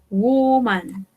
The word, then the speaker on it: woman: Woman. Recordemos que mujer, una sola mujer, la pronunciación es con U.